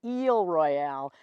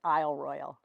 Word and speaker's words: Isle Royale: I love Royale and if we were honoring the way the French would say it would be eel Royale but it's definitely been